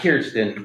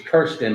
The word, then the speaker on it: Kirsten: Not Kirsten, it's Kirsten, like curse words, or cursive.